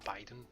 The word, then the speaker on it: Biden: everything wrong sure was i was calling biden bidden for ages because it was like that was the way it just looked like b-i-d-e-n bitten bit didn't but no biden i decided to completely